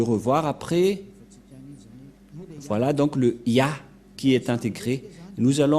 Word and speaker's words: Yah: vais mettre en bas, sa prononciation se lit I et l'autre se lit AH. Je vais expliquer simplement. Et lorsque on va regrouper à la normale, ça se transforme en Ya, que nous allons écrire ici, Ya.